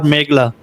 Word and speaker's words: Meghla: First of all, can you please tell me the correct pronunciation of your name? Is it Meghla or Meghla?